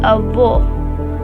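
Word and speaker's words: avô: He is a VO. A VO. See the sound is closed and deep.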